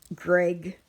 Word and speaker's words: Greig: So I am reading Return to the Center of the Earth by Greg Beck. And Greg is spelled Greig, and Beck is Beck.